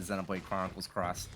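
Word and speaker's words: Xenoblade Chronicles X: That was me that pronounced it Xenoblade Chronicles Cross.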